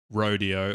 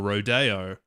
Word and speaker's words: rodeo: The the word rodeo can be pronounced in two main ways. Either as rodeo or rodeo. The first pronunciation is more common in American. The second is more like Spanish.